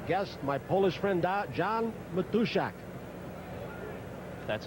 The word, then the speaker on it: Matuszak: Special pregame guest, my Polish friend John Matuszak. That's how you want to pronounce it.